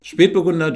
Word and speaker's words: Spätburgunder: product by the way we say speed burgunder and speed rhymes with and means late referring to the fact that it is a late ripening grape variety its existence was first